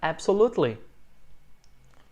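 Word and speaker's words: absolutely: não é absoluto lei a sílaba tônica é a primeira absoluto lei bom então claro edson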